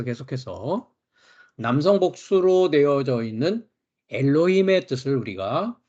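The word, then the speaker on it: אלהים: 하이라이트 돼 있습니다만은 남성 복수 명사는 엘로힘 예 엘로힘이 어 발음을 합니다 엘로힘과 같이 실액 요드 꼬리형 매로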